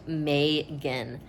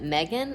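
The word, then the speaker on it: Magan: It is pronounced Megan. One of the characters pronounced it Megan and got corrected.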